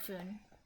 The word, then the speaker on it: Fyn: That was like pronounced like Foon.